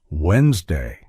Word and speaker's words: Wednesday: the word Wednesday and think it's pronounced exactly as it's spelled but listening teaches you it's actually pronounced Wednesday this helps you speak